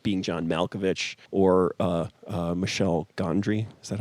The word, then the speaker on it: Michel Gondry: Being John Malkovich or Michel Gondry. Is that how you say it? I was about to say, who's the French guy that does that stuff? Yeah, Michel Gondry.